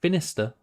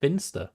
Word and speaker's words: Finster: stop saying it wrong it's not finister it's Finster actually is Finster heart yes